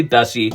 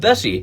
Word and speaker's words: Bessie: So, you have a tie-in with a local business on top of it rhyming with Nessie, the nickname for the Loch Ness Monster.